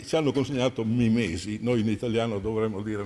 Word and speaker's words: mimesi: Mimesi è con l'accento greco. Mimesi suona la parola italiana passata attraverso le forche caudine del latino. In sostanza la penultima è lunga, è un'eta, i latini l'hanno contata lunga e ci hanno consegnato